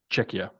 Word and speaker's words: Czechia: Czech Republic but they how do they pronounce it now czechia czechia they change their name there's a sex Republic anymore no it's czechia it's czechia like that's the way I think what what